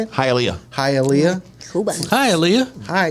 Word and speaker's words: Hialeah: Hialeah Florida Hialeah how do you say it Hialeah hi Alia hi Alia hi yeah how you